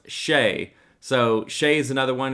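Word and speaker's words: Shai: this weekend and apparently or i've been saying shy but apparently it's pronounced shay so shea is another one to take a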